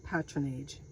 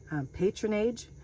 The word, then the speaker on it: patronage: P-A-T-R-O-N-A-G, patronage. So if you're going, you might pronounce it patronage, either way is pronounceable, or patronage, whatever, but that's basically giving favor, political support for government jobs.